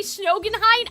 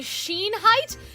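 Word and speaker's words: Schoenheit: Every time I say Snogenheight, I don't think that that's right. You guys are saying Sheen Height. Sheen like diamond. That may make sense.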